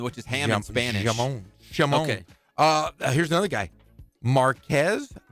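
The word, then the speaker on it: J'Mon: Hamon. Apostrophe Mon. More. Wait, spell it for me? J. Apostrophe Mon. M-O-N. Oh, Jamon. Jamon. J. I thought you said Hamon, which is ham in Spanish. Jamon.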